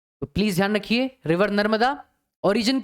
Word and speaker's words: तापी: अब देखो इंग्लिश में ताप्ती लिखा जाता है, TAPTI, इसका प्रोनाउंसिएशन तापी है। नदी का नाम तापी है, लिखा ताप्ती जाता है।